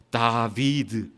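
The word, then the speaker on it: דָּוִד: 그리고 이 달렛, 바우, 달렛을 히브리 사람들은 어떻게 읽을 수 있느냐 하면 다비드라고 읽을 수 있습니다. 다비드.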